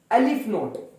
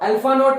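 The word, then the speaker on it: ℵ₀: इसे कहते हैं एलिफ नोट। इफ आई एम नॉट wrong, ये स्पेलिंग है इसके, एलिफ नोट। अल्फा नोट नहीं, एलिफ नोट। एलिफ नोट इसका नाम होता है, इसका सिंबल का नाम है, ठीक है।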